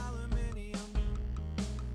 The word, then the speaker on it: aluminium: I pronounce it aluminium, 'cause there's an I next to the U and M.